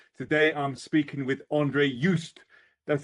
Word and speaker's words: Jooste: Today I'm speaking with Andre Yust. That's how you pronounce it, isn't it? Andre, it's Yust. Yust.